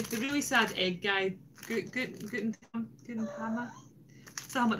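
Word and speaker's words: Gudetama: Gutenama, that's how you say it.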